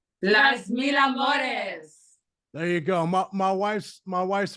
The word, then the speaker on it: Las Mil Amores: How do you guys pronounce it? Las Mil Amores? Las Mil Amores.